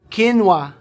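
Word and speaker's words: quinoa: The word is kinwa ha. Kinua. Ko alam kinwa. The word is spelled as Q U I N O A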